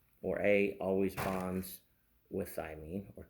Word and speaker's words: thymine: you need to adenine thionine uh guanine and cytosine so adenine thymine I think I pronounced thymineated wrong a minute ago guanine and cytosine so